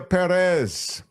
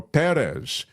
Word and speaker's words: Pérez: miss it you haven't really missed much Amelia Perez or Perez because the accent is on the uh first syllable C A thoroughly original topical a showcase